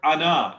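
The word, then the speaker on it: أنا: However, the word ana is not ana. It is written in Arabic a, but it is pronounced ana.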